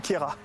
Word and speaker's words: Queyras: T'as remarqué, on dit Queyras, on prononce pas le S.